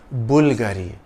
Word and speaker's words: Bulgari: sotirio Bulgari in Italian the emphasis is on the first part of the name Bulgari the Bulgari logo is